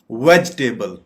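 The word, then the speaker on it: vegetable: बिल्कुल गलत प्रोनंसिएशन है वेजिटेबल वेजिटेबल सब्जियां वेजिटेबल सब्जी हम इसके सिलेबल्स देख देख तो यह वेज टेबल वेज पे जाके आप पॉज लेंगे और फिर बकिया पार्ट आप प्रोनाउंस करेंगे वेजिटेबल इसको हम वेजिटेबल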